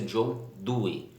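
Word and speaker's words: Dewey: doe chamado John Due se escreve John the way mas a pronúncia John doem ele é norte-americano e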